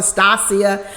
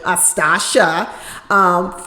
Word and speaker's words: Stacia: Last week I was calling her Stacia because that's the way it's spelled. That's the way I want to say it. You know, from California, we do CIA, like that's how we say it out here.